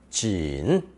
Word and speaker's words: 锦: Giving this character the pronunciation of third tone, 锦, 锦.